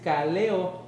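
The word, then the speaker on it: καλέω: Y la palabra llamados es kaleo, en acento en la E, con cada kilo, y es convidado, decir, invitar, llamar, poner por nombre y poner un sobrenombre.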